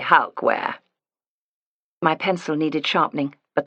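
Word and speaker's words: Halkwaer: H A L K W A E R. We say Halwear.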